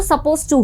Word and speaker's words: supposed: सपोज टू अब देखिए इसको हम सपोज ही बोलेंगे लिखते समय इसमें डी आपको लिखना है लेकिन जब आप इसे प्रोनाउंस करेंगे तो सपोज टू होगा ओके सपोज टू तो